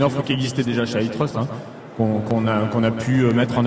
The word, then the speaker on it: iTrust: Faut que je prononce comment? À la française. Ouais, on va rester souverain puisque c'est le principe de l'offre. Donc iTrust.